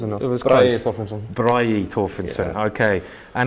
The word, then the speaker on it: Thorfinnsson: Okay, so I've heard this is Bragi Thorfinnsson. Is that? Yeah, it was close enough. It was Bragi close. Thorfinnsson.